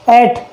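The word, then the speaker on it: eight: किसी वर्ड के लास्ट में जी एच या जी एच टी हो तो जी एच साइलेंट हो जाता है।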